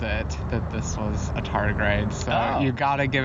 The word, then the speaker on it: tardigrade: my new friend pet here which I cannot pronounce the name of this how do you say it but you pet yes the tardigrade Thank You tardigrade it's a good word I'm